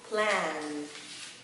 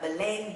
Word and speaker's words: plan: Và đó sẽ là plan, plan. Không đọc là blend, blend. Mình sẽ là plan, plan.